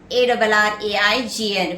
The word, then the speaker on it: arraign: Arraign, A-R-R-A-I-G-N, where the letter G is silent.